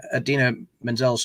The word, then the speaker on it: Idina Menzel: you know introducing idina menzel pronounced exactly as it is spelt which is a jibe